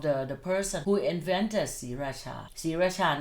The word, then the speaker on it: Sriraja: And you still pronounce it Sriracha.